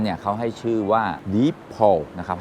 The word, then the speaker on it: Deepal: เขา ให้ ชื่อ ว่า Deep PA นะ ครับ ให้ ออก เสียง แบบ นี้ นะ ว่า เป็น Deep PA นะ ครับ ส่วน ตัว